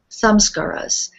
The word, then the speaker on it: samskaras: that i love and it's some some scarra's samskaras and i i always pronounce it the other way some scaras because i think of them as some scars that have happened to us and we know when you get a scar the skin tightens up and you